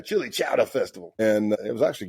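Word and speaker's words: Chillicothe: Hey, we were at it was me and a bunch of outlaws and we were at the Chili Chowa. That's how they pronounce it there. Chili Chowa Festival.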